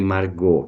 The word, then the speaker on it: Margaux: usava meu pré nome Margot que pronuncia se marcou e escreve margaus mas ele mesmo tinha